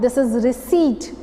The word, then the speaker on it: receipt: This is receipt. What is it? receipt. Here P is silent and this is pronounced as receipt, R-E-C-E-I-P-T.